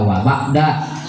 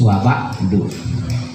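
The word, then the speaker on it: وَبَعْدُ: Waba'du boleh, amma ba'du dibacanya boleh juga waba'da, apa-apa, sebenarnya yang bagus waba'du.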